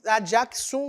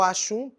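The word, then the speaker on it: Axum: de cush é o Reino de a jaum ou achun depende da sua pronúncia tá as duas estão corretas vai ser vai invadir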